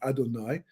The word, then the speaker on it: Adonai: Well, it turns out that if you take the name Yud Kei Vav Kei, well, actually Aleph Daled Nun Yud, which we pronounce as Adonai, right?